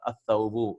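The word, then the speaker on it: الثوب: At-thawbu. See, we are not pronouncing the lam.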